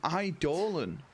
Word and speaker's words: Eidolon: An Eidolon.